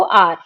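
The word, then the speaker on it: hour: अब यहाँ पे इसको हम बोलते हैं आर। ठीक है, आर यानी घंटा, शुरू किससे हो रहा है, एच से, पर बोला क्या जाता है इसको, आर। ठीक है, इसका प्रोनाउंसिएशन आर होता है।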